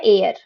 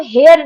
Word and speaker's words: heir: इसको लिखा एच से जाता है पर इसको बोला जाता है एयर। इसका क्या मतलब होता है? इसका मतलब होता है वारिस। ठीक है। हम जब बोलते हैं ना, जैसे आपने जब उसमें लीगल लैंग्वेज में कई बार पढ़ा होगा, लीगल एयर्स, है ना, तो उसको हम हेयर नहीं बोलते हैं, उसको हम एयर बोलते हैं।